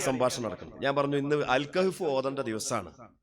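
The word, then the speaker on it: الكهف: അപ്പൊ ആ കുട്ടി എന്നോട് പറയാണ്, അല്ലെങ്കിൽ ആ മുജാഹിദുകാരൻ എന്നോട് പറയാണ് അൽ കൈഫോ. അപ്പൊ ഞാൻ ചോദിച്ചു, എന്താ അൽ കൈഫ് എന്താ സാധനം? അൽ കഹ്ഫ് എന്ന് പറയൂ സഹോദര.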